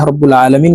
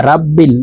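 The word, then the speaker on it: رَبِّ الْعَالَمِينَ: ভুল করে থাকি এখানে রাব্বিল বলে থাকি রাব্বিল র কে রা বলা যাবে না র কে রই বলতে হবে র বাবা জবর রব রব্বিল আলামিন এই যে এখানে আরেকটি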